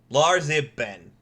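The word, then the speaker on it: Larzibn: z i b n lar Ben right it's exactly how it sounds I came up I'm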